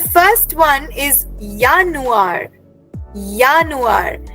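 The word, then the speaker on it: Januar: ऑफ़ the year is यानुआर। Remember J in German is pronounced S वाई सो करली वी आर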